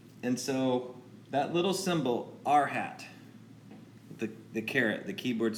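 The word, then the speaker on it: r̂: the unit vector so R with a carrot symbol we pronounce it our hat we call that the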